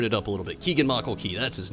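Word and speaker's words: Keegan-Michael: But they had Michael Keep Hill come in there, and he did excellent.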